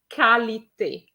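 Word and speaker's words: qualité: it is different from the word quality which is kalite we have kai not qua so be careful equator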